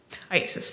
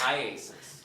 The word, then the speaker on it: IACIS: investigative Specialists that's iacis Isis yes can we call it Isis yes how do you say iasis iasis all right I just